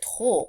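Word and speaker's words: とお: However, it is pronounced not ju but to when you're counting a small general object.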